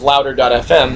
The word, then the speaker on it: LOUDR.fm: And with the help of Louder.fm, that's LOUDR.fm, spelled like Tumblr, sort of.